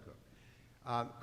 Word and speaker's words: Coke: fell see okay II like coke like coca-cola but it's pronounced cook cook was the prosecutor for